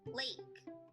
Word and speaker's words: lake: The magic E in lake makes the A say its name.